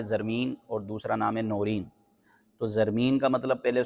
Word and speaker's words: نورین: اس کا مطلب تھا یہ صحیح تلفظ اس کا تھا نورین۔ نورین یہ نور کی